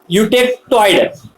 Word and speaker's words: eutectoid: Pronunciation is eutectoid.